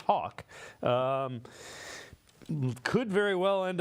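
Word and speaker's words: Haack: guy that uh is Matt Hawk it's pronounced Hawk um could very well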